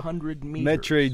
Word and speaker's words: metri: I find when I get TR, I want to pronounce it as tr instead of ter, instead of the T and the R separately. Metri. Metri. I would tend to say metri. Like tri, like tricycle, triangle, tr, instead of ter.